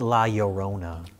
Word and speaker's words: La Llorona: just to correct you it's pronounced la Llorona oh yeah yeah my sharona that's unrelated but Oh Oh cuz it's a double el and Spanish double Elle's like like like poyo it was just was